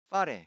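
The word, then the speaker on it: whare: 하지만 그 옳은 발음은 파레이고 일부 마오리 사람들은 그 자기네에게 맞는 표준말이 그러니까 자기네에게도 자기네에게도 원래 마오리 말이 파레 그것을 F자처럼 발음한다는 거예요. F를 발음할 때는 아랫입술과 윗입술로 발음을 하게 되죠. 근데 표준말은 대학에서 가르치는 표준 발음은 그리고 대다수의 마오리 사람들은 그걸 파레 양 입술을 이용하여 발음합니다.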